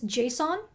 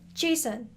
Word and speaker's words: JSON: talking about the same thing so some people pronounce this json and other people pronounce it jason whichever one strikes your fancy it's all the